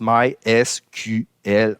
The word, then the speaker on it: MySQL: Puis officiellement, MySQL, on le prononce MySQL en anglais, ce qui donne MySQL dans la phonétique française.